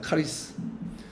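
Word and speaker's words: χάρις: 무엇인가 하면 카리스 입니다 카리스 그러나 헬라어로 발음이 카리스 의 크리스 크리스 크리스 우리 싸죠 크라이스트 예수님을 부르는 이름과 이음이 유사합니다 카리스 다한 어머니의 그래서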